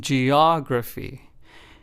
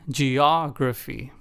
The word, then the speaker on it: geography: For the third word, the emphasis was on the second syllable, og in geography.